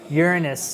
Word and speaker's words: Uranus: spoke at NASA so from now on I'm gonna say Uranus and you don't have to have any students giggle anymore that the joke is over Uranus is how they pronounce it at NASA so I'm I'm urine